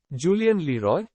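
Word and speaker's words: Julien Leroy: first X Julian Leroy Julian Leroy will put stress on Roy here the learner will recognize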